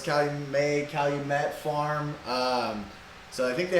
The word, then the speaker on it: Calumet: So, is that how you say it? Calumet? Calumet? I think that's how you say it. That's how I say it. See, for me, it's like Calumet. May, like French? Yeah, like French.